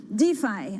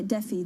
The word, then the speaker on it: DeFi: things hashrate is commentators defy i say daffy the european style of course mispronouncing it so defy the so-called